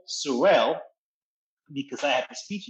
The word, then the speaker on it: Sorel: Sorel is happy, and I can pronounce it. So it is literally called Sorel.